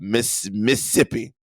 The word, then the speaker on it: Mississippi: That's how you pronounce it when you're from the South, Mississippi.